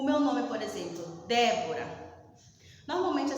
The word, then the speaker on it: Débora: na antepenúltima seria próprio a palavra débora o meu nome ser o que uma proparoxítona porque a sílaba tônica dele está na antepenúltima entenderam então nós temos